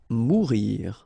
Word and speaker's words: mourir: Mourir. Okay, so same thing that we saw previously. O-U here, when you combine the two, you get the sound OU.